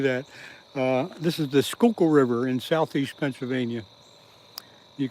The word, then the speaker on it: Schuylkill: S C H U Y L K I L L is Skooku River.